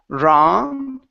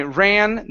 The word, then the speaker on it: ran: the word ran here so instead of Rong okay with an a sound it's a it's a short a when I ran the newspaper when I